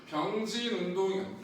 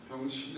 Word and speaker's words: 병진: 병진운동. 발음 잘해야 돼. 병신이 아니고 병진 운동이라는 건 질량 중심의 위치가 바뀌는 운동이거든요.